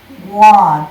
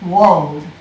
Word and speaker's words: Waud: I'm talking about this wonderful, wonderful artist, Alfred, and I always pronounced it Waud, but it's Waud. It's an English name, and Waud.